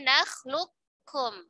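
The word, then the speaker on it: نَخْلُقكُّم: Lebih utama dibaca kamil, berarti qafnya dileburkan sempurna ke huruf kaf. Jadi nakhlukum. Nakhlukum. Ya, qafnya melebur sempurna.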